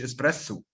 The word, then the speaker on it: espresso: Espresso مش espresso.